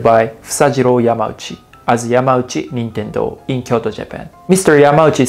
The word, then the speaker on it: Nintendo: video game company nintendo most americans that i know pronounce it like i said nintendo nintendo but in japan we say nintendo nintendo i know it's pretty